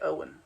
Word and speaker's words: Owen: She has a pronunciation guide. Owen. You say it Owen.